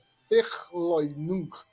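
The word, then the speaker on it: Verleugnung: E por último, a renegação que a pronúncia lá em alemão é ferloin na perversão, é um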